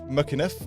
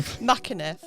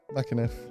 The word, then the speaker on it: McEniff: You have to say it quickly and pretend you're Irish, and it comes out. He took a real run up to it as well, didn't he? And don't pronounce the C.